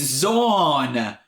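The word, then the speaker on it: Xorn: It's Zorn! That's the Medium one. What is that? Zorn? Zorn. Like rhymes with corn.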